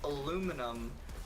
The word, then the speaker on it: aluminum: My life was changed when I found out aluminum, how American pronounce it, is correct, and how the discoverer wanted it.